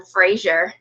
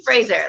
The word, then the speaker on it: Fraser: Everybody calls him Frasier. Frasier, like the TV show, because that's really all of us Americans know. But it's actually Fraser, like razor with an F is what I always tell everybody.